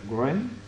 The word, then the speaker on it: Wren: llamaba así el christopher wren no se producen pronuncia se escribe w r cómo se pronuncia r yo no conducción segura